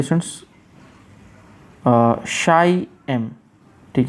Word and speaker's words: ची: कुछ लोग इसको बोलेंगे ची, कुछ लोग बोलेंगे छी। तो मतलब एन्जॉय कीजिए आप डिफरेंस, जो आपको पसंद हो आप वो बोल सकते हैं। वैसे इसका जो प्रॉपर प्रोनाउंसिएशन है, जहाँ तक मैंने गूगल पे चेक किया है, वो है शाई, श जैसा प्रोनाउंस करते हैं इसको, शाई।